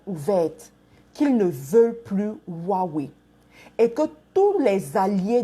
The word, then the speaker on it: Huawei: Les gens disent que je prononce mal. Mais c'est Huawei.